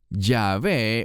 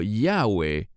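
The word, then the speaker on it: Yahweh: Jehová en español o en hebreo diríamos yahve O yahwe aunque para mí Debería ser yove Pues creo que tiene tres sílabas dos cosas primero la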